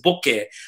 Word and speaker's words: bokeh: to say it it doesn't matter if it's mispronounced this is the way they want it's like boca versus bokeh bokeh is a japanese word invented in like